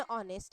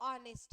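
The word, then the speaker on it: honest: बच्चे ओके क्या दिया है ही इज एन ऑनेस्ट आपको मा क्योंकि इसका उच्चारण क्या है हमारा तो ऑनेस्ट है ठीक है उच्चारण क्या बेटा हमारा नेस्ट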